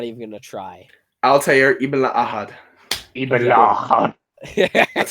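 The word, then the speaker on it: Ibn-La'Ahad: Can you pronounce Altair's last name? No, and I'm not even gonna try. Altair Ibn Ahad.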